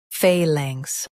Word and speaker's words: phalanx: In UK, stress phal and soften langs. Phalanx, phalanx.